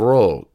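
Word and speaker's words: rho: The X and the P is really ki and ro. It's the k, r.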